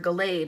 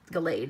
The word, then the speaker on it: Gallade: no kidding a gal a DXR Gallade or Gallade is the more proper way to pronounce it I have this is